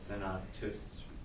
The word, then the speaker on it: senatus: Is it senatus? Senatus, right? With a long U.